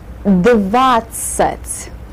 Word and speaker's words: Двадцать: Двадцать. Двадцать. With the А syllable, with the А sound in the first syllable.